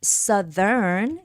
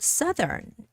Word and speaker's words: southern: Northern South would be Southern careful with this West would be Western and East would be Eastern okay so the word Southern is pronounced slightly differently okay so East Eastern